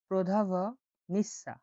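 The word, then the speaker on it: продавница: বলা হয় প্রদা প্রদা প্রদা ভটা উচ্চারণ হবে প্রধাভ নিসা প্রধাভনিসা প্রধাভ নিসা মানে হল দোকান প্রধাভ নিসা প্রধাভসা মানে দোকান আর কুপিনা মানে কেনাকাটা।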